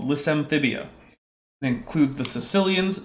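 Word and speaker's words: caecilians: lissamphibia it includes the Sicilians not the people from Sicily they're spelled differently but it's pronounced similarly in Modern English but they're well they're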